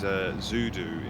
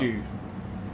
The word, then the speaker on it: Zudu: He is Zudu in the race. That's how you pronounce it. He said he's very nervous for his first proper race. There's nothing to worry about. Zudu is how you pronounce it.